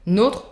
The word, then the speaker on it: notre: Notre, votre, soft R, et leur, completely irregular.